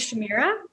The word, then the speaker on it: Shamira: everybody my name is shamira and if you can't pronounce my name it's essentially like shakira but with an m so shamira um and also i